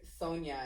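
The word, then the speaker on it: Sonja: new york um like sonya is spelled with s-o-n-j-a for the yeah sound we have some of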